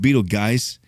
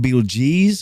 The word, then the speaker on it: Betelgeuse: was actually, I want to say it was pronounced Beetlegeist. That was actually in the original movie. Beetlegeist. But it was Beetlegeist. It was even called Beetlegeese or Beetlegeese.